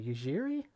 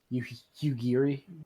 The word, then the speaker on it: Yugiri: Yujiri? Yugiri.